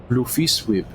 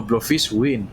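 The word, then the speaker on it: Bloefhiswyn: Blufiswib. No, Blufiswin with an N.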